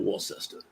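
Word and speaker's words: Worcester: pey man it's like War sester it's not war sester yeah and it's w and it's walam not Walt him it's walon I had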